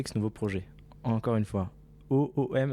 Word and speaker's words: OÔM: Encore une fois, OOM, est-ce que je l'ai bien prononcé? Exactement, Home.